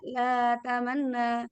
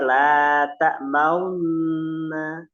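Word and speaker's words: لا تأمنا: Nah, ini sama satunya lagi la ta'maunna. Bukan la ta'manna, tapi la ta'maunna. Jadi Oh, antara fathah dan wawu bergabung. iya, baru dengar. Fathah dan dhammah bergabung, maka di bacanya ismam.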